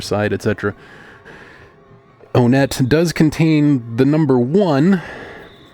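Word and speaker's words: Onett: in t uh tcon 3 4 side Etc onet does contain the number one in such a way that perhaps the the correct pronunciation of onet is actually want and the word the name want does sound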